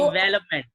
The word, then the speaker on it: development: मैंने बहुत लोगों को, Development. I learned that there is a V sound. We have to pronounce V. Development. The absolutely, second syllable. Development.